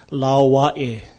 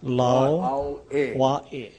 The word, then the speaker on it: Lao Wa'e: Okay, it's Lao Wa'e. Lao Ahi. Lao Wa'e. See, the A in this last word is kind of pronounced Wa'e. This is the Okina, or the glottal sound.